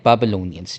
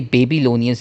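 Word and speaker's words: Babylonians: फिर आते हैं बाबलोनियंस, ठीक है। ये बेबीलोनियंस नहीं, ये बाबलोनियंस है, प्रोनाउंसिएशन ऐसी है, ठीक है, बाबलोनियंस।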